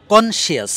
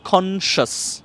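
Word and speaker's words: conscious: বলছেন আমি প্রথমটা হচ্ছে কনশিয়াস মানে সচেতন কনশিয়াস না সচেতনের ইংরেজিটা হচ্ছে কনশাস বলেন তো একটু তাহলে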